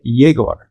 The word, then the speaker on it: Yegor: the inverted podcast number 11 with my friend jagor yes I said my name right actually I